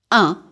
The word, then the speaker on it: un: Un, masculine, and pronounce this just like you did for the number 1.